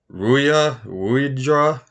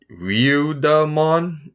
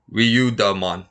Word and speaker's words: Ryudamon: What is Ruidra? Ryudamon? Yeah, that one. It's like another. Oh, there you go. Ryudamon.